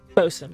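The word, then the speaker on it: boatswain: We don't necessarily have a boat in boats. Is that how you say it? Bosen.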